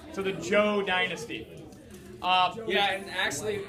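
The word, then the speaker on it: Zhou: ruling family's dynasty called the joe dynasty the joe dynasty how do you say it alex h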